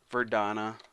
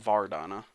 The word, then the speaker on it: Verdana: And I'm just going to set the font family to Verdana, not Vardana. Verdana. Maybe that's how you say it. I don't freaking know.